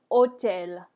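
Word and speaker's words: hôtel: it's easy alright so you're going to pronounce the word like the H is not there it is mute so let's look at our examples first I have hotel Hotel go ahead or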